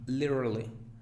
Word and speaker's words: literally: Esta, el estudiante avanzado la debe pronunciar así, literally, literally. Un estudiante más básico es imposible de pronunciarla. Diría diría literally, literally, y no es literally. Literally, no, literally, literally.